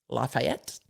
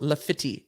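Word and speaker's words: Lafitte: know they don't um my brain went lafayette but it's spelled l l-a-f-i-t-t-e so le fiti is what we're going with but in my brain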